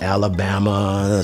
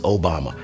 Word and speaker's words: Obama: He said, "People don't know how to pronounce my name. They say Alabama. Some say your mama, but the name is Obama.